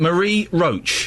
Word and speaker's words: Marie Roach: Marie Roach.